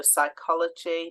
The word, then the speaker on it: psychology: and we've got the silent P at the start so psychology pneumonia uh the uh silent a